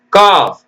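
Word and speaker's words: calf: எழுதணும் பிஓ எல் M bomb சிஏ எல் எப் காஃப் காஃப்னா கன்று குட்டி சாமன் வஞ்சன மீன் பாம் கிளையில்லா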